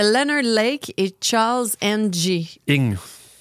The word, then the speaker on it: Ng: Ing. Ça se prononce ing.